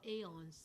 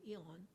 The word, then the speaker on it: aeon: Or aeons. Some people pronounce this as aeon. I'm used to eon. So whatever, aeon or eon.